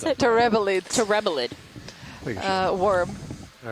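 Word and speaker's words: terebellid: that how you pronounce it? Terebelid Terebelid.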